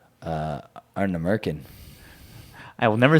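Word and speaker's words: Ardnamurchan: gonna say Arna Merkin. I will never say that distillery's name because I don't even know how to pronounce That it.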